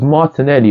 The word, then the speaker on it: Martinelli: You got the syllables of Gabriel Martinelli, and it has the accent at the E, alright? It was Martinelli or Martin.